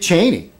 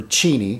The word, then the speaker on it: Cheney: Dick Cheney, you would think, or Cheney is really how it's supposed to be pronounced.